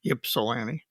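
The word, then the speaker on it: Ypsilanti: What's how do you pronounce Yipsellani? Yeah, Yipsilani up there.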